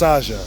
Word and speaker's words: Czaja: It's pronounced Saja. The old Arabic way they spell it is S-A-J-A-H.